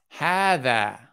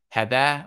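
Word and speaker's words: هٰذَا: vocabulary examples all right note this word here is pronounced Heather okay and this word here is pronounced happy he okay so it you pronounce it as if there is an alif coming afterward you wouldn't pronounce it had that or have a he you pronounce it and have the he okay had that means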